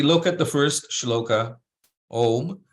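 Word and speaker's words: ओम्: So if we look at the first shloka, Om, so in this case, that's where that M with the dot above it is pronounced as an M, right? Not as an N.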